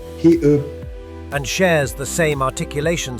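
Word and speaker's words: 히읗: It's called he, and shares the same articulation space as using the back of the throat.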